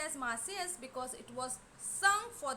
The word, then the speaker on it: Marseillaise: It is pronounced as Marseillaise.